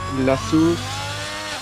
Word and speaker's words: La Source: He goes through La Source. It's the French pronunciation.